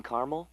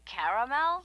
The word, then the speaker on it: caramel: I'd like it in caramel. Oh, the caramel?